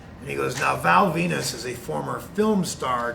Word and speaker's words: Venis: thing he said was the character's name is val venus okay and he goes the last name is spelled v-e-n-i-s and i go v-n-i-s